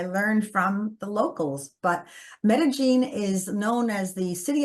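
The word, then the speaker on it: Medellín: Well, I loved, and it's pronounced Medellin, I was told. Thank you, Medellin. Think of gin and tonic.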